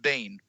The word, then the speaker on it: Biehn: Yeah, I think it's pronounced Bane.